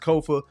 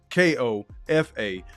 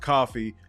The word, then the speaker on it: Kofa: Once again, I'm your humble host, Kofa, K-O-F-A, not coffee, not kufu, not Kofi, or any variation thereof. Kofa rhymes with sofa.